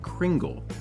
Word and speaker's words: Kringle: remembered you guys like Kringle which in case you've never been told is pronounced with a soft G like in thing Danish is weird and